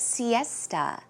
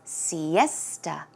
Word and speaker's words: siesta: sometime in the afternoon pronunciation is siesta siesta so it's more of a tuh aa sound siesta one more time siesta